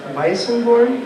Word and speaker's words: Weissenborn: Weissenborn?